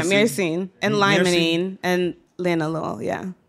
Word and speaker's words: myrcene: Is that how you say it? Myrcene? Yeah, myrcene.